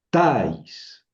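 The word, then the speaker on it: ταῖς: Entonces, aquí tengo que leer tais. Tais, así se pronuncia, tais. El acento se pinta sobre la débil, pero se pronuncia sobre la fuerte.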